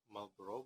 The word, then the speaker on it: Marlborough: Tulisannya Marlborough, bacanya Marlborough, kayak Marlborough. rokok ya, Marlboro.